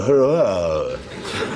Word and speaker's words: Huayra: It's called the Hurrah. It is. It's spelt Huayra.